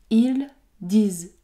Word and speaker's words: ils disent: nasale à la fin e nt ne se prononce pas ici vous allez dire ils disent ils disent le dernier